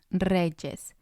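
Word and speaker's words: rey: the end for example El Re El re in singular form the Y sounds like the letter i when it's at the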